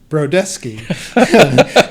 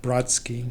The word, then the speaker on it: Brodesky: said it's like taking take the word desk and put bro in front of it and a thin y at the end so it's b ro de s KY that sounds pronounced per desk e not Brodsky not Brodsky yeah ok I'm sure